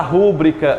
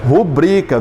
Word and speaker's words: rubrica: Como é que a gente diz comumente, gente? Faça a rúbrica aqui, não é verdade? Mas como é a pronúncia correta? Rubrica.